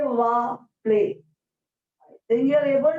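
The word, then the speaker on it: plaît: at the pronunciation of this particular word, is play. So we look at the pronunciation of all the acronyms, we will be able to highlight this particular point. Respond, say, va, play.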